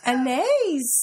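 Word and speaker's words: Anaïs: I'm asking you how do you say it anise anise okay anise an is that an Mitchell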